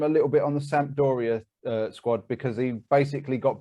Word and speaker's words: Sampdoria: And was at Sampdoria. Is that how you pronounce it?